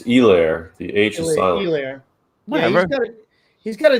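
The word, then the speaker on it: Helaire: say say his name everyone says like c-e-h or some people say like you know edward's hilaire or some like it's hilaire like it's it's elaire the agent he's got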